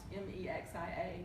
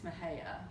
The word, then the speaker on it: Mexia: I was standing in a group of Texans and pronounced Mexia, Mexia, and they just, it's Mahia.